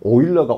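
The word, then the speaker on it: Euler: 여러분, 오일러가 O로 시작하지 않습니다. EU 이렇게 들어가요. 독일식 발음이에요. O 발음 나요, 이게.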